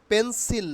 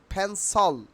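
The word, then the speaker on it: pencil: change কি change হয়েছে পেন্সিল না আজকের থেকে আমরা বলব ফেন্সল ফেন্সল ফেন্সল খুবই গুরুত্বপূর্ণ কারণ এই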